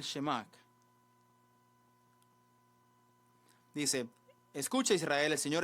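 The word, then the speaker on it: שמע: Deuteronomio 6 Deuteronomio 6 Este es el shim se llama aquí mis amigos judíos me están corrigiendo mi pronunciación hebrea Deuteronomio 6:4 al 5 Qué es el shemak dice escucha Israel el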